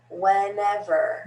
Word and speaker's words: whenever: difference friend went went whenever whenever so you'll notice in that one there are three different e's the first two have an f and this third one is a schwa whenever whenever whenever whenever